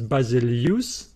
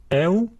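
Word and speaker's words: βασιλεύς: Some pronounce them as you, and they say there is an example in English, the word feud, and then they would pronounce this word as basileus. Basileus, a king, and Huron, Huron, I found. In this course, I will pronounce them as eu, because the previous diphthongs is pronounced as au, so it is logical to pronounce this one as eu, eu.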